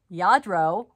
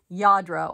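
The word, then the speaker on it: Lladró: guys it is a yadro which is spelled r l-l-a-d-r-o okay so um it does not look like it sounds yadro i believe is how you pronounce it and their horses galloping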